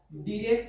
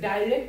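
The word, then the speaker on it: direct: ন্যারেশনকে দুই ভাগে বিভক্ত করা, একটা হচ্ছে ডিরেক্ট স্পিচ, অনেকে এটা ডাইরেক্ট উচ্চারণ করে ডাইরেক্ট, তবে এটা কিন্তু ডিরেক্ট স্পিচ হবে।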